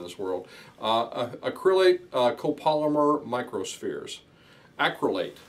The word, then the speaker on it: acrylate: Acrylate, that's how you pronounce it.